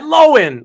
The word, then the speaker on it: Lohan: blah you know and she said she said lowen lowen like I always said it so I'm just like